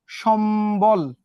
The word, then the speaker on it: সম্বল: আবার দেখো সম্বল, সম বল। সম্বল কি বলো তোমরা? না, তোমরা কি বলো? সম্বল। তাহলে এখানে মটা উচ্চারিত হইলো, বটা উচ্চারিত হইলো।